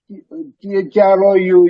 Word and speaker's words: through: Some like thorough, Through, GH is thorough, is not even pronounced.